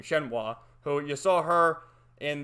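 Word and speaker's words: Shenhua: to finally meet that woman shinoah or shenwa that's he pronounced her name shenwa who you saw her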